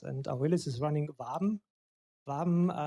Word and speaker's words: Waben: Waben resembles phonetically the German word Waben, like a honeycomb in a beehive, and so our startups are working busy like bees in a hive.